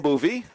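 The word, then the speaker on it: Boeve: I asked Coach Boovie if he was related to former Hastings coach Jim Bovee, spelled the same way, B-O-E-V-E, but they are not related, different pronunciations.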